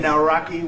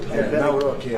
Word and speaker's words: Nawrocki: It's a great pleasure to have President Nawrocki with us, Poland.